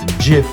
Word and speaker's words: GIF: watching guys and remember it's pronounced J and not give stay safe